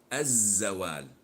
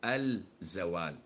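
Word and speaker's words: الزوال: Of course, this is lam shamsiyah, and we don't pronounce it when we attach it to the word. So we say az-zawal. We don't say al-zawal, as in the word ash-shams. We don't say al-shams.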